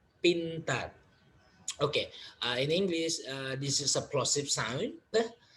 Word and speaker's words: pintar: Pintar. Pintar. Okay, in English, this is a plosive sound, but in bahasa Indonesia there is no plosive sound, so it's we pronounce this as regular sound.